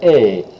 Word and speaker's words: est: Again, that EST is always pronounced like A, like the last two letters in the word day, or bay. or okay, A, that A sound is what you want, okay?